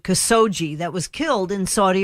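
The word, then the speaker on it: Khashoggi: latest on this guy cuz so G is how you pronounce it cuz so G that was killed in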